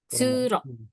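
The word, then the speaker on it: 通路: dia dibacanya di sini tsu ya. Ingat Kuruma. tsu. Oh, Tsuro. Nih ya.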